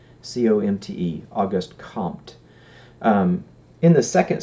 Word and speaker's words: Comte: And the first of the 3 stages, according to Comte, is what he calls the theological stage.